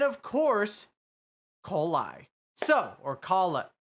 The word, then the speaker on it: Collei: So, or Collei. It's Collei. Sorry, I'm still learning how to pronounce some of these names, but one banner